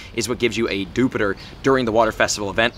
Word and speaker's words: Dewpider: if you watched trainer tips video it is pronounced jupiter on dewpider i was calling it dewpider we'll call it dupider because i like to